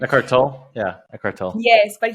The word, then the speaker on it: Eckhart Tolle: Eckhart Tolle.